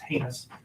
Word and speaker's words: heinous: First of all, it's pronounced heinous, not he.